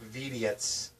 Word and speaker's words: Vidiots: A complete in-box copy of the Ren and Stimpy Show Vidiots. You have to say it like Stimpy because that's how they spell it.